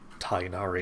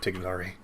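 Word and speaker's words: Tighnari: more sense than sumeru you're already mispronouncing anyway with tainari instead of tignari oh and why did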